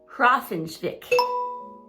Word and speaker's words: Hrafnsvik: So she goes to this village pronounced Hrafnsvik.